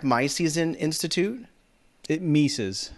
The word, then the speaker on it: Mises: in economics and he's a fellow at the mices institute and he's a host of the bob